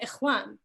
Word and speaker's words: Ikhwan: about like Ikhwan al-Muslimin, and you say Ikhwan. You don't say like brotherhood, or you don't like say, you very much say the kha when you're pronunciating these things.